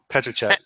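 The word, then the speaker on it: Petříček: Petrick? Yeah, Petracek. Petracek. Okay, I butchered that.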